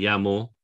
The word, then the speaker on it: llamo: Como te llamas, me llamo, that's the double L, essentially pronounced as a Y.